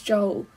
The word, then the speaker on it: Joel: he probably will and it is joel there we go we've finally seen it in writing it's official he's not jeweled he's joel they've just been pronouncing it weirdly and those are berries